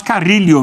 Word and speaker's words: Carrillo: Na verdade, o peruano, ele fala mais Carrillo mesmo.